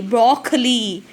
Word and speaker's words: broccoli: go broccoli okay so here you have double c so that you should stress little force uh car sound okay brock lee broccoli bro cor lee broccoli got it children practice